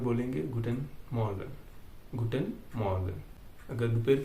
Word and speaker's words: Guten Morgen: तो good मॉर्निंग German में बोलेंगे गुटेन मॉर्गन।